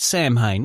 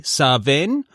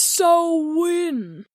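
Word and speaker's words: Samhain: He called it Sam Hayne, which is most often pronounced as I just did. But if you want to show off and not seem pretentious at all, you can say sen or sahen.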